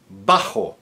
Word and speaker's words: bajo: Bajo, spelled with a B as in boy, and also pronounced as a hard B.